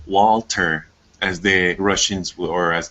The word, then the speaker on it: Walther: was about to say it's not pronounced Walther it's it's pronounced Walter as the Russians or